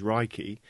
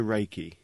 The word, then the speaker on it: Reiki: meaning universal life force although the proper Japanese pronunciation is Reiki it has been westernized to Reiki ray means universal omnipresent